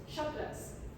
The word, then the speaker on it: chakras: completely shining today so chakras chakras is is pronounced chakras as in ch Norris as in ch Norris